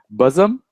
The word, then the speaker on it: bosom: Like me and bosom, I thought it was Awesome. bossum.